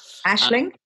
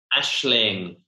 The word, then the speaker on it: Aisling: Ashling. Ashling, that'll be it.